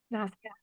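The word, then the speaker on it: nasya: Nausea? Is that how you pronounce it? Nausea.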